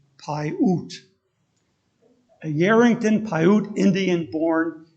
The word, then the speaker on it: Paiute: hear the word pronounced so that's how i learned pai oot a yarrington paiute indian